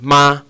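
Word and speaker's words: 妈: So the first, we'll take something, just a simple word, ma, ma. So that's M-A, ma. And it's pronounced with the first tone. So my voice is doing that. Just simple, just standard monotone. Ma.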